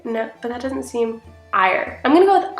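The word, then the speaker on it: Éire: we say Ireland IR era ah era so why do we say Ireland era okay so they stuck true with the beginning E oh my God okay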